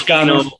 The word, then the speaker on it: Cano: It's Cano. I just say Cano because that's how the homies know me out here.